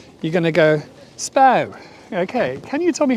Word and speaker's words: Spui: how to say that it's SPO like imagine it's spelled SP p o w SPO almost like row so when you see it as uh SP UI you're not going to go spooey are you you're going to go